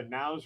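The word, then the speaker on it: Nous: It's by It's done by It's by Now's Research. It's spelled N O U S and then research. So now's research.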